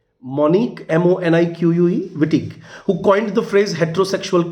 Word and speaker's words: Wittig: exam notable representatives um include monty uh monique vittig this is the first name monique m-o-n-i-q-u-e wittig who coined the phrase heterosexual contract and she